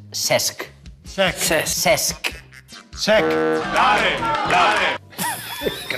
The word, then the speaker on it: Cesc: ¿Este? Sex. Casi. Es Cesc.